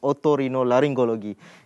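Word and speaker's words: otorhinolaryngology: show this morning uh the proper way to i know it's very difficult but uh to pronounce it is ottorino laryngology it means ear nose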